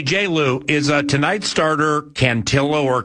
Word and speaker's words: Cantillo: Hey Jayloo is uh tonight's starter Cantillo or Cantio, how do you say it? Yeah, Joey Canillo.